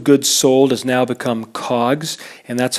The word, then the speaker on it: COGS: Cost of goods sold has now become COGS, and that's how people would pronounce it.